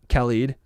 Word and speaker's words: Khalid: I feel like I've been corrected. Khalid. I used to say Khalid, and then people were like, no, it's Khalid.